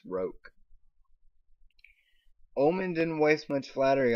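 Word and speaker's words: roque: burst into laughter oh it's pronounced rope by the way it's not rokay it's roke omen didn't waste much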